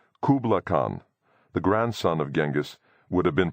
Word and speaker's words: Genghis: Kubla Khan, the grandson of Genghis would have been pronounced hooplihan. It is true that Genghis is perhaps better rendered as Jingis, but Genghis is how I learned it first and the one that resonates for me.